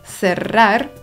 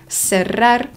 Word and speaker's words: cerrar: pytanie to zależy, bo w większości regionów Hiszpanii litery CE oraz CI wymawia się w sepleniący sposób z językiem między zębami, jak na przykład w słowach cerrar czy cielo. Natomiast w Ameryce Łacińskiej usłyszymy dźwięk S, czyli se, si, cerrar, cielo.